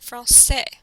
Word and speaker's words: français: For example, the word for French is français, and you see the cédia in this word. Notice that it sounds like an S, français.